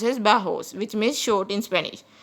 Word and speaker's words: bajos: Guys, J is pronounced as H in Spanish, so it is pronounced as bajos, which means short in Spanish.